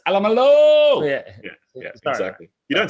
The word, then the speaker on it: Alamalo: Can you just make sure you nail some of these pronunciations, though, mate? It's Alamalo.